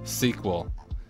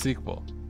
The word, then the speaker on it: SQL: this trademark, then the proper name way to pronounce it is still sequel. If it's an acronym, what does it stand for? Structured query Well, yeah, okay. It is technically an acronym, but it's pronounced sequel.